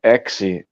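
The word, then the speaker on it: έξι: In Greek, exi. Okay, it's pronounced exi is six.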